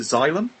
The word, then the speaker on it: Xylem: So I'll very quickly say, Norah runs, how do you pronounce the label? Is it Xylem?